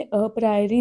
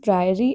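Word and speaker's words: a priori: अब इसको बच्चे आपने अप्राइरी नहीं बोलना है। मैंने जानबूझ के गलत बोला है। यहां पे दोनों केसेस में जनरली ए साइलेंट होता है। Fine. It इज़ प्रायरी analysis and पोस्टीयररी analysis.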